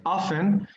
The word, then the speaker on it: often: okay so we have the word often the t is silent often and well when you